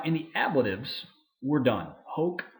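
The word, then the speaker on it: hōc: the ablatives we're done hoke hawk hoke is how we're going to pronounce those but for the accusatives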